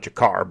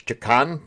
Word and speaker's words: Chakan: I always called it Chakar, but it's Chakan the Forever Man.